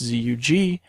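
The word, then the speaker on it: Zug: with a G it's zuu um but it's not pronounced with a G right you don't have a voiced Veer stop at the end of that you have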